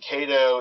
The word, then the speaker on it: Kaydoh: for the round and kato is basically a pronunciation of k a deuce or kedu or basically king ace ii and those three cards